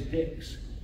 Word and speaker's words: dix: speak French either and they pronounced that word as dicks and over the years